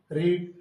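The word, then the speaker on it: read: अब आएगी साथ ऑक्सिलरी वर्ब, तो तुमने, यू के अनुसार हैव यू, पढ़ना, रीड, तो स्पेलिंग वही रहती है और प्रोनाउंसिएशन अलग होता है।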